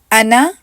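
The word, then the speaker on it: أنا: एक ही काउंट पढ़ेंगे जबकि अलिफ यहां पर साइलेंट है यानी के उसको हम नहीं पढ़ेंगे अना अना अना रना ल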